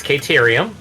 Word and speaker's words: Caterium: Okay, now we have an official pronunciation. It's Caterium, because Katerina.